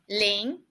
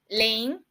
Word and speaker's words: 林: We put 2 mu together, but the pronunciation is Ling. Ling, it means wood.